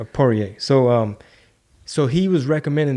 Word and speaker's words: Poirier: Yeah, Dustin Poirier. Poirier.